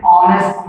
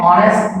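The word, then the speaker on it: honest: फिर वैसे ही यदि वॉवेल है, कॉन्सोनेंट है, लेकिन उसका प्रोनाउंसिएशन यानी साउंड यदि वॉवेल की तरह होता है तो हम लोग एन लगाते हैं। एन ऑनेस्ट merchant, an ऑनेस्ट merchant, like इसी तरह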